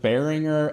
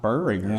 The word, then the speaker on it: Boehringer: I've heard Bearinger and Bow Ringer, but not Burringer. So, now I have a third uh pronunciation, and it's that's the right one, it sounds like.